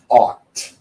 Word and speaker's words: thought: all pronounced the same thought okay so those of you watching at home repeat the word wrong robot art robot okay many times I hear people try to pronounce the G or the H and they say cow